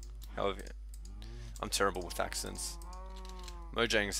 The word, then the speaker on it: Mojang: a y I meant J is pronounced as a y um anyway I'm rambling